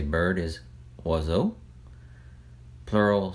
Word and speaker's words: oiseau: If you speak Cajun French or heard it spoken, you, maybe like me, always thought that words like oiseau, ebb, and ab actually began with the letter Z. Swazo, zab, zab. And I think that's because we always heard it's pronounced maybe off of the plural, les oiseaux, les ab, les ab.